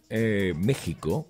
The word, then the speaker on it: México: Texas Está correcto Bueno le explico algo según México está escrito con x y la gente lo pronuncia con j porque nuestros nuestros ancestros pues